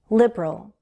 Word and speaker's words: liberal: Liberal or liberal. This word can be said with 2 or 3 syllables. Liberal. Liberal. Either way, the stress is on the first syllable.